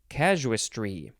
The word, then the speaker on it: casuistry: casualistry kaz cashwistry casua no you have to emphasize the first syllable casus tree there we go c-a-s-u-i-s-t-r-y this is our